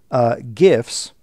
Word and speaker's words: GIF: for the most part for everything you do gifts are animated images these are images that will